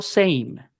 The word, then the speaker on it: same: Cuando yo digo same, la S se pronuncia. No, ¿Qué? No, ¿verdad? La E no suena.